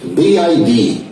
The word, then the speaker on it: BYD: É uma empresa que aqui no Brasil está sendo chamada de BYD, BYD, mas a pronúncia correta lá para eles é BID.